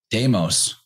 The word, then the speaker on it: deimos: like level for example in greek deimos which is spelled slightly differently but sounds quite similar to daimon deimos actually means dread